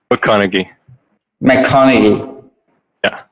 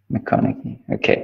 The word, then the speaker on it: McConaghy: Is McConaghy or? McConaghy. Yeah, McConaghy. McConaghy, okay. Kind of like Matthew McConaughey, except pronounced correctly.